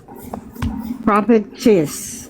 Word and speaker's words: propitious: Propitious.